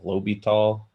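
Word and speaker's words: L'Hôpital: famous mathematician um again you pronounce that name i've always heard it low be tall and he's got this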